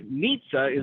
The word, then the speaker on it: Mitza: want to you know mitza is a very you know it rhymes with pizza okay she'll tell you